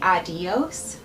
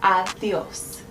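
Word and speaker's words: adiós: Now, as you notice with the D, I didn't say adios, I said adios. So you want to put the tongue right under your teeth for the D sound.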